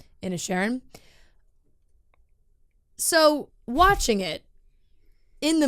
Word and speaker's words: Inisherin: I watched Banshees of Inisherin. I don't know. Inisherin. I'm trying to say it how they say it in the movie. Inisherin.